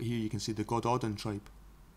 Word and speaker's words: Gododdin: But here you can see the God Odin tribe. The God Odin, Welsh pronunciation, Go Dodin, were a pre-Celtic speaking